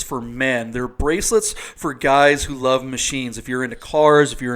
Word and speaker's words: GYX: on the instagram page that's spelled g y x customs that's underscore customs and it's pronounced guys so you can see